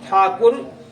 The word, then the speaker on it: ठाकुर: हम चैनल के जो अंग्रेज दोस्त थे ओम ठाकुर शब्दों का सही उच्चारण नहीं कर सकते थे मेहेंदले चेंजेज इनटू टैगोर इसलिए उन और उन लोगों ने से टैगोर में परिवर्तित कर दिया छात्र की जगह टैगोर पुकारने लगे हैं दादा व रवींद्र